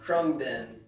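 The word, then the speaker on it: Khruangbin: Krungbin.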